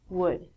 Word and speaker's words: would: All of these L's are silent. So it sounds like should, could, and the thing that we get from trees, would.